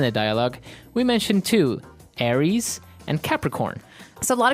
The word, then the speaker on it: Aries: And um so it's pronounced Aries.